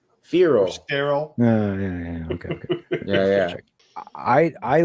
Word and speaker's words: Feral: Rhymes with peril. Feral.